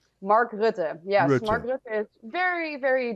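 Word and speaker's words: Rutte: economic forum too who's what's his name mark rude yes mark is very very deeply involved in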